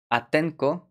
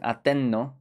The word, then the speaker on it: Atenco: Atenco, sometimes pronounced Atenno, if they kind of get merged into each other, it'll become Atenno.